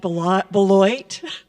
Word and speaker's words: Boilott: of the Blue Ridge my name is Beth b booy and I almost pronounced it like every everybody else pronounce it because it's spelled that way and I am happy